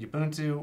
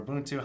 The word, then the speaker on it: Ubuntu: So after installing SteamOS, I figured the next best play was installing Ubuntu, or Ubuntu, however you want to pronounce it, 2004.